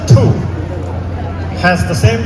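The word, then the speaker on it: 兔: wherever and whenever thank you in Mandarin rabbit pronounced two has the same pronunciation as journey to except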